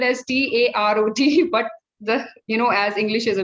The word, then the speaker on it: tarot: it is spelled as Tarot, but as English is a very funny language, we all know. The T at the end is silent, and we pronounce it as tarot, right?